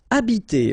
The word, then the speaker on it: habiter: Okay, remember that in French, the H, like that here, is not pronounced at all. Okay, so you don't pronounce it, so you get the first sound is the vowel A here.